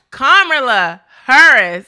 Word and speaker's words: Kamala Harris: Kamala Harris.